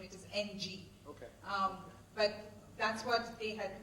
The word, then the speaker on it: Ng: done by a big deep learning guru Andrew pronounce his last name it is ng but that's what they had coated that we